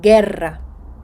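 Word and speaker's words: guerra: вживається з голосною у Це робиться для того щоб перед е та і знову звучало ґ Гера війна гітара тут у не звучить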